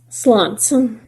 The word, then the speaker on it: Schluntz: are two different things the pronunciation is say it Swanson the spelling is SCH LUN TZ I usually say people